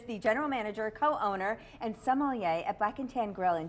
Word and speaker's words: sommelier: thank you for bringing why did I say it right and what is a sommelier you said it correctly enough correctly a sommelier is a